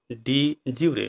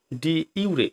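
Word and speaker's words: de jure: ডি জিউরে বা ডি ইউরে, এই দুইভাবে কিন্তু উচ্চারণ করা হয়।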